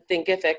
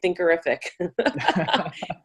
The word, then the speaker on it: Thinkific: a cool contact with Thinkific. So why don't you tell us what Thinkific is? And I used to always say it wrong. I used to say Thinkerific. But Thinkific, tell our audience what Thinkific is.